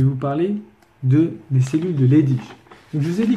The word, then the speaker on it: Leydig: Donc en fait, les gens ils disent Leydig. Mais moi je dis souvent Leydig parce qu'en général, le G à la fin d'un mot, normalement ça se prononce Ch.